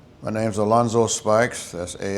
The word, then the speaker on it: Alonzo Spikes: and we're just talking and uh go ahead and state your name and spell it out for me. My name's Alonzo Spikes.